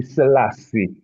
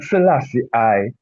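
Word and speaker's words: Selassie: follow protocol the protocol the name highly salass the first is the man's name. that is is his is baptismal throne name not Salassi you understand so and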